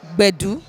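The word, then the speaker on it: gbedu: just do in life the word is called badoo badoo it's spelled GBE D u so it's bad not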